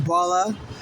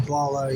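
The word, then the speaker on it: Bola: In Nigeria they call it baller but in America they call it baller you know.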